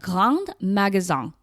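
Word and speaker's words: grands magasins: visit some of the Gang Magazon, which is spelled like Grand Magazine, which are basically department stores.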